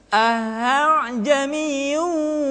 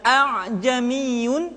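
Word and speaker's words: ءَأَعْجَمِيٌّ: Ahjamiu wa arabi. Jadi tidak dibaca a'jamiyun atau a'jamiyun, tapi hamzah kedua dibaca dengan suara yang samar.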